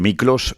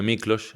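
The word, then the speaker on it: Miklós: Aunque Miclos sería tu apodo, el que te puso tu padre. Mi hermana. Tu hermana. Sí, sí. ¿Cómo es eso? Bueno, eh, Nicolás en húngaro se escribe Miklos.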